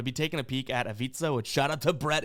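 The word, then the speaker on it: Ivica: million times on TV can never pronounce zubac's first name and he said it rmes with pizza and I was like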